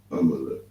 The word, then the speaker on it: Amalek: And another one, another tribe of Edom we're gonna get is Imalak, or Imalak, which would be the you understand? Right. It will be pronounced Amalek. Amalek.